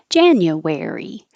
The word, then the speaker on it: January: a regular word um to remind you that it's where where and I put wary here in case that's easier for you to remember even though it's two syllables I wanted you to see the word wary as a word by itself like if that helps you think wary January and the same thing